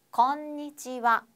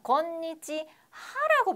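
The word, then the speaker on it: こんにちは: 오하이오 쓰시면 되겠고요 자 점심 인사는 뭐라고 하냐면 곤니찌와 곤니찌와라고 발음을 합니다 자 선생님 이상한데요라고 하시는 분들은 우수한 학생입니다 자 곤니찌 하라고 배웠어요 여러분 이거 하라고 배웠는데 와라고 제가 발음했습니다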